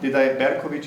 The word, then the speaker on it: Berkovich: Berkovich, is that okay pronunciation? Because that's how Slavic people would say the ch.